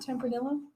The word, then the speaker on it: Tempranillo: Is that how you pronounce it? Tempranillo.